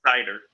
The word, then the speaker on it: Seiter: cider how do you say your last name cider cider I love that what's where's your last